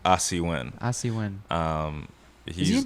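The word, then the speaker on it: Asi Wind: Asi Win.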